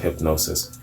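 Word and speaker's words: Hipgnosis: from hip hip gnosis 8i PG n OS is I guess it's pronounced hypnosis featured several photographs centered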